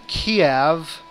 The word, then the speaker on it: Kyiv: There are 2 in Kiev, or Kyiv, I think is how the Ukrainians pronounce it.